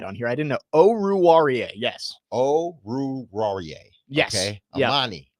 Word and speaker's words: Oruwariye: Oruwariye. That's my best guess. That's what we got. Oh wait, Pro Football Reference actually has a pronunciation guide on here. I didn't know. Oruwariye.